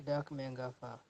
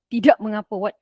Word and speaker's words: tidak mengapa: Let's go with the formal version first. This is the formal version. Tidak mengapa. Ya, betul. Tidak, alamak. Tidak mengapa. What have I done here? Okay, tidak mengapa, tidak mengapa.